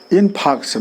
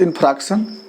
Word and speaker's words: infarction: इन्फाक्शन नॉट इन्फ्रैक्शन, इन्फाक्शन। आर को इसमें silent बोलते हैं।